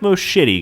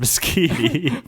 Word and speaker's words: Moschitti: It looks like most shitty, guys. It's not. But I swear to you, in another land of pasta and other carbs, it's pronounced Moschiti.